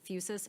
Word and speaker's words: Fusus: Can Axon certify in writing that Outpost is not integrated with Fusus, F-U-S-U-S, I don't know if I'm pronouncing that.